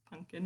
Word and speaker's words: pumpkin: was and turns out it's just another way of pronouncing pumpkin so um i'll be pronouncing it pumpkin just because i think that's a bit clearer but you know for authenticity's sake that it's punkin in the poem um natalie says we